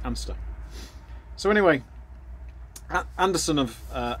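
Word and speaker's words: Anstruther: spell anderson of amster which is spelt and struver but i'm reliably informed it's pronounced amster so anyway anderson of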